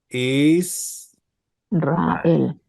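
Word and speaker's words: ישראל: Israel, Muy bien. Israel. No es she's, no es she, tampoco es ye, ¿sí? Es i.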